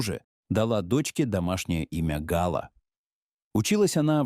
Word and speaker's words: Гала: Он произносит его с ударением на последнем слоге. «Гала» по-французски – праздник.